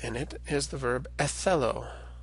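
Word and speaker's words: ἐθέλω: An example of a Greek word with theta in it is the verb ethelo. Othello, which of course in its original kind of pronunciation would have been more like Etello, and it means I am willing or I wish.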